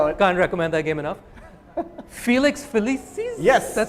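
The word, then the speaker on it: Felix Felicis: I know I can't recommend that game enough Felix felices yes that's how you pronounce it's nice and simple it's the it's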